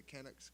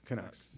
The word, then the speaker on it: Canucks: So, yeah, the the how you pronounce it, the Kucks. Kucks. Canucks.